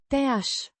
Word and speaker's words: ți-aș: Pronounced roughly as, Te-aș. with a softer Șe. sound. The I. in Ți. is pronounced like the ee in see, Spune.